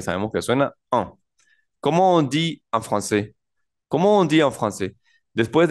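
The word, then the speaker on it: français: FR Fran Fran bien la palabra FR la a y la i juntas de ahora en adelante vamos a entender que va a sonar e como la e del español e normal e y la an suena como nasal Oh Fran Fran la s no suena la mayoría de consonantes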